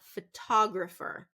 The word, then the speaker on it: photographer: We don't want that one. We want photographer. Photographer. Second syllable stress.